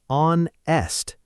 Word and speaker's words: honest: The answer is on-est. The H is completely silent, remember?